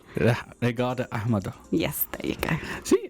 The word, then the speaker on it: Ragita Ahmetaj: Mine would be Regata Ahmedo. Regata Ahmado.